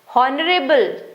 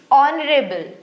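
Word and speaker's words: honorable: हॉनरेबल नहीं इट्स ऑनरेबल।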